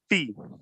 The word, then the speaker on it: fi: And remember, I's are E's, right? So if an I is an E sound, long E sound, it would be pronounced fee.